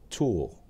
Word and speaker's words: TAWE: C's Tips and Tools. Today, I want to showcase an app perfect for a quick and easy presentation. The app is called TAWE. It is pronounced tool.